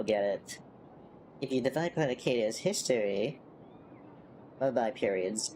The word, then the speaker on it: Planarcadia: Planecardia. I have no idea. I need to listen to how they say it again. Planarcadia. Planecardia. No, it's Planarcadia.